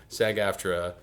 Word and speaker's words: SAG-AFTRA: President of your union and mine, SAG-AFTRA.